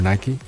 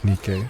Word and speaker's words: NIKKE: The Japanese pronounce it NIKKE, so I just kind of adopted that term. Probably better suited to pronounce it that way, so because it doesn't,